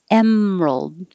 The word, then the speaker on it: emerald: inextricably inextricably inferior inferior emerald no middle syllable emerald ignite don't say the just